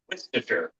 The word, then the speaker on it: Worcestershire: Actually, it's Worcestershire. Yeah, I know.